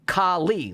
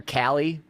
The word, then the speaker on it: Kali: I feel like I I emphasize the second syllable and I space the syllables out too much and it's been haunting me for 2 years. Why do I care about this? I kind of with it. I just I don't like calling her Callie because it's it feels wrong. So, I tried to like I'm going to I'm going to lean into the esoteric enigmatic way of pronouncing it.